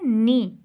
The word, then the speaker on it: knee: Next है नी, KNEE, नी, नी, नी, ये sound हम निकल रहे हैं, इसमें से के जो है वो साइलेंट हो गया, ठीक है।